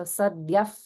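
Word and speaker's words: सद्यः: So when it comes in the middle of the line, it's pronounced in a specific way according to the sound that follows. So here, because it's followed by a pa sound in prasadini, it gets pronounced as an if sound.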